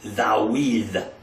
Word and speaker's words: David: David is Dawid. Dawid.